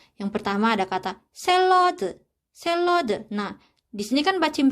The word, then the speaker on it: 샐러드: 샐러드. Nah, di sini kan bacim realnya, terus di depan realnya ini kan ada huruf konsonan yaitu real juga. Jadi kita bacanya ini sebagai L.